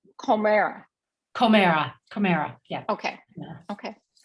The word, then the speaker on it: Komera: And then it's Comera.